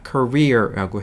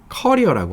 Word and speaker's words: career: 이거는 career입니다. 미국 발음, 영국 발음 할 수 없이 다 career라고 해요. 그래서 여러분 혹시 경력, 뭐 사회생활을 뜻하는 단어를 캐리어라고 하지 마시고 커리어라고 하셔야 됩니다.